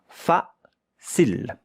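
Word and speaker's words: facile: But the E at the end, here you have a consonant. Here you have a E, a voil. You don't hear it.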